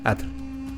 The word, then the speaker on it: atl: mujer en lengua nagat agua se pronuncia at que significa fuente de vida Asimismo mujer en la